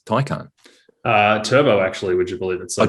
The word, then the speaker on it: Taycan: I've been pronouncing it wrong. Taycan.